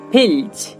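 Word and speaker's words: filch: তেমনি করে দেখুন মালচ, দেখুন এখানেও আমরা এল লেটারটি পাচ্ছি, তারপরে CH যুক্ত হয়েছে, তাই এখানে তার উচ্চারণটা হচ্ছে চ এর মতো।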